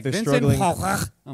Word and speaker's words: Van Gogh: Did you know that Van Gogh is apparently pronounced Fachloch? Terrible. Yeah, didn't know. A terrible real pronunciation. Yeah. Van Gogh's so much better.